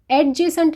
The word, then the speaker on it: adjacent: Next, adjacent to, इसको adjacent नहीं बोलेंगे, adjective की तरह इसमें भी डी साइलेंट है।